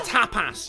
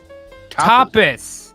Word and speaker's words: tapas: say like to play tapas tapus tapas we're even i'm even using the soft a like you guys do over there just emphasize the first syllable not the second topic um i'm glad